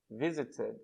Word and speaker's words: visited: Então, eu vou acrescentar id. Eu vou acrescentar uma nova sílaba. Lembra, nos outros casos, não acrescentava outra sílaba. Ficava a mesma coisa. Clean, cleaned. Stop, stopped. Mesma quantidade de sílabas. Aqui eu tenho visit. Eu vou acrescentar mais uma sílaba.